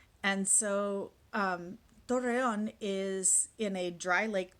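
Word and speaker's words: Torreón: went to is called torreon it's spelled t-o-r-r-e-o-n with an accent on the o the lasto and so um torreyon is in a dry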